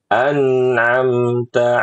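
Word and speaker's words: أَنْعَمْتَ: Siratal ladzina an'amta 'alaihim. An'amta 'alaihim. Nah, Ibu an'amta lebih rileks lagi lidahnya, lebih lembut lagi dalam menempelkannya.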